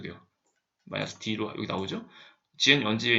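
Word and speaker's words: gunzip: GNU 언집에 있는 건집이라고 발음하셔도 되는데 건집 하시고 하시면 압축이 풀리고요.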